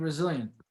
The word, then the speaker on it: Resilient: We have David Resilient, whose last name is pronounced like resilience, as you stated earlier.